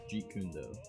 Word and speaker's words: Jeet Kune Do: I'm looking into getting the Jeet Kune Do. I believe that's how it's pronounced. Jeet Kune Do. Hold on, let me look this up real quick. Yeah, Jeet Kune Do.